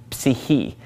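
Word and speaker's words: ψυχή: Well, psyche comes from the Greek word psyche, psyche. And they do pronounce that PS at the beginning of the word psyche.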